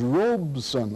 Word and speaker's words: Robeson: here to correct me the pronunciation of Paul's last name is Robeson our OBE s o N and there's a